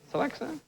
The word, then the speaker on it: Celexa: is unbelievable, say they developed a drug called Celex. I think that's how you say it. It's C-E-L-E-X-A. Is that how you say that? Celex? That's it, yeah. Celexa?